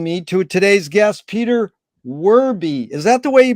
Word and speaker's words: Werbe: to today's guest Peter werby is that the way you pronounce the last name absolutely unless you're German and then you would say verba and Peter where in